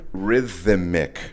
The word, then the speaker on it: Rithimic: Rhythmic. And it's spelled RITHIMIC. Right. Rhythmic. Not like you'd expect it to be spelled.